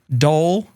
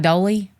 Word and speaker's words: Dole: they were just amazing how do you pronounce it Dole are you sure I guess I don't know it's not doly it's definitely not doly they weren't like come